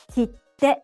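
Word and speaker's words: 切手: Kitte means stamp and is pronounced in 3 syllables.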